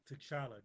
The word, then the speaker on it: T'Challa: I never pronounce it right. King T'Challa. T'Challa, King T'Challa.